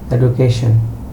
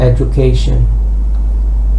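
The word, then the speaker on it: education: কিন্তু আমরা বাংলাদেশে উচ্চারণ করি এডুকেশন। পুরাটাই ভুল। এটা হবে এডুকেশন। আমি বাংলায় লিখে দিয়েছি। এখানে ড এর উচ্চারণটা হবে সামান্য।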